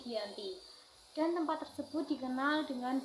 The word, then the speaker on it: Giyanti: Nama Giyanti ini diambil dari lokasi penandatanganan perjanjian, yaitu di Desa Janti, dan dalam pelafalan Belanda itu sebagai Ianti dan secara tertulis ia sebagai Giyanti.